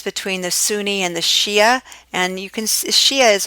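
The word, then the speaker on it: Shiite: only see ya see I can also be written as Sh I ite but both of them are pronounced Shia this is a really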